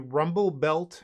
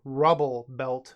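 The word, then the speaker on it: Rubblebelt: fizzle they play a rumble belt Maverick my bad I said the name wrong Rubble belt Maverick not Rumble Rubble Scrapheap Scrounger love this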